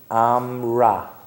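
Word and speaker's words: אמרה: What do you think that would be? How do you pronounce that? That's not on the page. Amra. Who? Amar. He said. He amra. She said. It feminizes.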